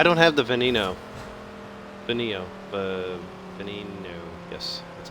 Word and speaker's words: Veneno: Veneno.